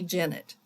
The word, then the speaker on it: Jennett: She said it's pronounced like Bennett, so it's Vicki Jennett.